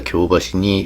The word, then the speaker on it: 京橋: In Osaka, "Kyobashi" is pronounced with a stress on the first syllable, but in Tokyo the accent is flat.